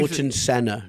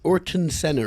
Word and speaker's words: Ayrton Senna: Yeah, I'm like I think you Ayrton Senna.